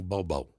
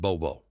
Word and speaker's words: Bobo: Her name is Connie Bobo. Like Bimbo, but Bobo.